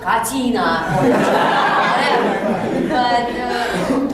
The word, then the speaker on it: Katina: Latina e tal, e chamar ela de Lena Katina e não de Lena Katina, se isso incomoda ela.